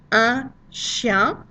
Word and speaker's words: chien: Un chien. And notice we really don't pronounce the N at the end at all because we're careful for one reason.